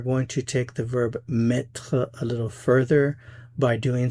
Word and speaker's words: mettre: Remember, the basic meaning of mettre is to put, as in to put something somewhere. It has other meanings, but the basic meaning is to put. So again, the pronunciation is mettre, mettre, mettre.